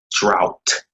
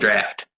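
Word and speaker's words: draught: is called carlton carlton drought d-r-a-u-g-h-t they'd be like caught and draft i'd be like no it's drought it's like draft i'm like no see d-r-a-f-t is dropped they'd be like no that's draft i'm like all right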